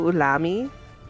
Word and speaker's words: Ulami: just sounds good so uh it'd be show ulami okay and so last name but last name gets pronounced first um and then ulami is u-l-a-m-i